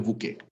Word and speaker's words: bouquet: Se escribe bouquet, pero uno dice el bouquet.